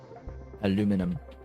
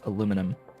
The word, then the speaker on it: aluminum: There's my aluminum. This game, it's aluminum. The actual correct way of saying that word as spelled. If you want it to be said with the extra I, then you have to spell it with the extra I.